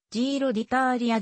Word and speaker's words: Giro d'Italia: 車ギロディタリーのイタリア語での発音はジーロディたーーーーリアであるジロデイタリアと